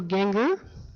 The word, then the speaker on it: Gienger: Speaker today, the Reverend Michael Gienger, rhymes with finger.